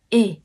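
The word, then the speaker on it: 의: chữ ư này nhưng khi nó có nghĩa là của thì mình không đọc là ư mà mình đọc là Ê mình nhắc lại nha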